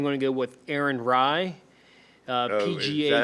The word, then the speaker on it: Rai: My shining star, I'm going to go with Aaron Rye, Oh, is PGA that how you pronounce championship. that? The guy Rye. who won the PGA? RAI.